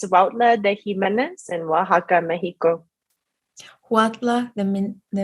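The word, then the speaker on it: Huautla de Jiménez: in, which I will need your help to pronounce. Yes, of course. It's Huautla de Jimenez in Oaxaca, Mexico.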